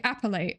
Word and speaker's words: appellate: Appellate is the court level where you appeal a lower court's decision, pronounced kind of like appellate. Okay, I said it right. That's good. Where the pel sounds like bell.